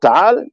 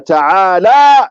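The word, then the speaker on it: تعالى: But Ta'al Jaddu is only a knowledge of understanding that when you are saying that word, you have to say it correctly. Wa Ta'ala Jaddu. Only that la is what makes a difference. That mad.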